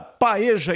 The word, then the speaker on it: paella: Paeja escreve-se paella. Alguns dizem que a pronúncia correta é paella. Mas aqui no Brasil todo mundo fala paeja.